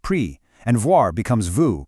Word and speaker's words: pris: Prendre becomes pris, pronounced pris, and voir becomes vous, pronounced vous.